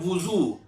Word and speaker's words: وضو: اس کا مطلب یہ ہے کہ میں نے برتن میں پانی لے کر وضو کیا۔ تو اس کا اصل جو تلفظ ہے وہ ہے وضو۔ جب بھی آپ بولا کریں تو کہا کریں